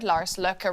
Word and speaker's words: Lars Løkke: The Danish Foreign Minister, Lars Løkke Rasmussen, said the two sides had agreed to create a working group to discuss ways to address Americans.